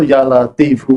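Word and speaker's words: يا لطيف: Syekh zazili itu itu Ya Latif bacanya itu ya latifu ya latifu ya latifu ya latifu gitu pakai pakai ininya f-nya itu tidak di tidak di ini tidak disukun tapi dilengkapi ya latifu ya latifu ya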